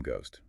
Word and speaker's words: ghost: It gained a silent H to become ghost.